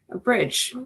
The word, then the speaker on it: BRDG: Like Joe said, my name is and I founded the firm Bridge, which is spelled BR O R DG but pronounced like a bridge and the concept is